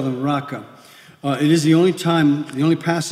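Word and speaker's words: Raca: just tear them down you just call the raka it is the only time the only passage where the Bible uses this term and it just comes from an Aramaic word Arica but pronounced araka as I said very direct orally meaning empty-headed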